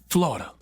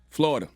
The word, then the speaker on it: Florida: Florida's 3 syllables. Now, y'all not gonna confuse me He now. said Florida. I asked y'all last week, is Florida 3 syllables or 2? We told you 3.